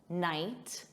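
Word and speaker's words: knight: There's a silent K on the verb to knead, just like night, a night, silent K, knit, silent K, know, to know, sounds exactly the same as know.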